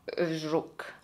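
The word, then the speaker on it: Żuk: del misterioso caso di magdalena zucca che ho scoperto si pronuncia crook magdalena look farò del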